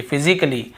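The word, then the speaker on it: physically: हैं फिजिकली ये देखिए फिजिकली तो यहां पर भी ए का उच्चारण नहीं हो रहा है और देखिए लॉजिकली लॉजिकली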